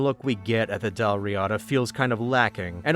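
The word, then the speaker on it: Dál Riata: The name is taken from an actual GIC kingdom, and Wikipedia's pronunciation guide says Dal Riyata for what that's worth, but I said there were some bright spots.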